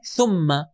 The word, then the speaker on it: ثم: ثم، کہ صحیح تلفظ اس کا ہے ثم.